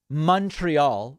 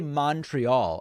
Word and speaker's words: Montreal: I was in Montreal I used to say Montreal and all of the quebecois wrote to me and said David with tears in their eyes they said David sir please pronounce it correctly it's Montreal I was coming back